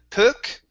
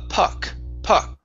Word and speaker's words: puck: this word here so instead of pook this is a puck so the puck hits